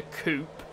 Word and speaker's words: coupe: not a two-door car is not called a coupe so it's called a coupe you don't call it a chicken coupe americans call it a coop there's an e at the end of it which is normally pronounced the end of the word otherwise